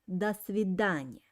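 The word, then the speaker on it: до свидания: pronounce this word um here i have two words do and sweden but i pronounce them like one word because though it's russian preposition which means till and svedanya means meeting and i uh uh the accent falls on the main word svedanya action falls letter but i pronounce this two words like one word das vidanya dania uh and the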